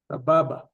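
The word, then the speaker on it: סבבה: Sababa.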